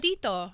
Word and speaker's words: Tito: Tito.